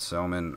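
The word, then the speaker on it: Gsellman: So Antonio Bastardo, and who could I get, Selman, or can I get Molina? I'm pretty sure it's just Selman. I think the G is silent.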